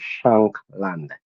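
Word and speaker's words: Shankland: So the correct pronunciation there is shank land.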